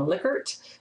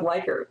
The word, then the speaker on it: Likert: I've actually heard some people say that the psychologist for whom this is named actually pronounced his name Likert, but I think that sounds weird, so we're going to go with Likert.